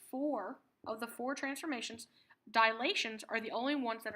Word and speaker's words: dilation: couple of things about dilations that we need to remember the first one is that dilations yes it's it's pronounced dilation not dilation there's no extra a dilation is centered at